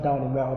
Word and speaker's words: Daunemigha: Daunemigha, okay. Yeah, fine, the G is silent.